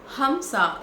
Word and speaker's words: Hamsa: हमसा HAMSA ऐसे pronounce होता है।